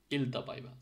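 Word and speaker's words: iltapäivä: জায়গায় যদি আমি ই লিখি, তাহলে কি হবে, ইলতা পাইবা। সো এরকম আইটাকে ইর মতো উচ্চারণ করতে হবে।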